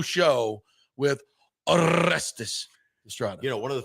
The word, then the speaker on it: Orestes Destrade: Big O show with Orestes Destrade. You know, one of the things I've always loved how you say my name, because you say it very well. You roll the R's.